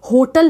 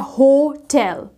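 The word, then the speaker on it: hotel: लोग इसको बहुत गलत तरीके से बोलते हैं। ये होटल नहीं होता है, ये होटल नहीं होता है, ये होता है होटल।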